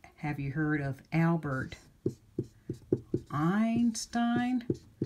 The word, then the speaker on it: Einstein: you heard of Albert Einstein look he's got AI in both parts of both syllables of his name II I says I let's look at another